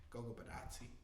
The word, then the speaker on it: Goga Bitadze: When you should have a shooter, you should have, like, you're saying, Goga Bitadze.